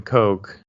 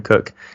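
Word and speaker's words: Koch: old at all so but the founder Jim Coke or cook I think we said we'll mispronounce a few things Jim Cook um he was from a long line of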